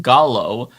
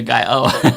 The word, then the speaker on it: Gallo: David, love you long time, but Gallo, you don't get a Canadian pass for that poor pronunciation. Oh, the Pico de Gallo.